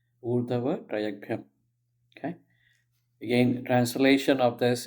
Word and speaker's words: Urdhva-Tiryagbyham: Again, how do we break it up? Urdh, Hava, right? Traya, Yag, Bhyam. Bhyam. Urdhva-Tiryagbyham.